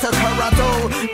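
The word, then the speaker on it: Toronto: Originally a Mohawk word pronounced Tarano.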